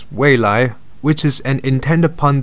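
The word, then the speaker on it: 蔚来: Now, the Chinese name of NIO is pronounced as Weilai, which is an intended pun that stands for, first of all, blue sky coming, as well as future.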